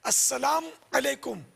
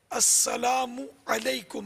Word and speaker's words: السلام علیکم: کا جواب واجب ہوگا۔ السلام علیکم یعنی میم کو ساکن پڑھا، پیش نہیں پڑھا، تب بھی جواب واجب نہیں ہوگا، تو صحیح تلفظ ہے السلام علیکم، میم پر پیش ہے۔ یہ دیکھو اس میں